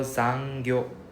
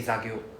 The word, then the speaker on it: 残業: For example, zangyo, the N is missing. You say zagyo.